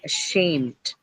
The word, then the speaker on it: ashamed: Ashamed. First one, can you mark? You cannot because it's a schwa again, right? So it's an unstressed sound. So it cannot take that syllable, cannot take any stress on it. So it's on the second one. Shame. Okay. All right. Right. So ashamed is done adjective and on the second syllable.